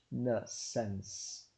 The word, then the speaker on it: reconnaissance: Re, reconnaissance.